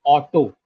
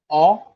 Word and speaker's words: auto: word in in Finnish look at the word you will pronounce it as auto in English right but it it is actually a Finnish word which means car and the pronunciation is oto to oto to this is what